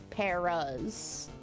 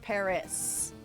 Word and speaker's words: Paras: But why why can't we pronounce it Paras instead of Paris? It's not Paris, it's paras. Like a pair of peaches, a pair of mushrooms.